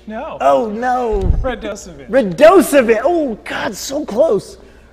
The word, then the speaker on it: Radosevich: My guest, Steve Radosevich? No. Oh, no. Radosevich. Oh, God, so close. Not the worst pronunciation.